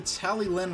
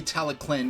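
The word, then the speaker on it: Talyllyn: I didn't know it was actually Tallyclyn because I didn't, know how to read the Welsh language. And I still don't, but now I know how to pronounce, okay, the double L, it's like a C or a K sound, I think.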